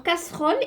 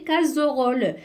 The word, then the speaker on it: casserole: une casserole une casserole alors casserole il y à deux aces alors si j'ai les mines ou bien je supprime un seul ace elle va se prononcer cazaux rôle alors y'a pas de cazaux rôle à mes casseroles donc je dois m deux aces pour entendre le sens et éviter le sens z donc je répète une